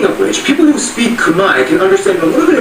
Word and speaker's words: Khmer: All this time you thought it was Khmer, right? No, it's Khmer. The R is silent.